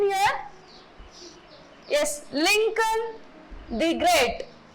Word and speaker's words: Lincoln: So, according to the phonetics and according to the British language, this word Lincoln is pronounced as Lincoln.